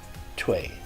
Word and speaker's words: twee: So you can say twee or twee. You don't want to give the W a really strong W. You don't want to say twee, but a very light W. So just twee, twee.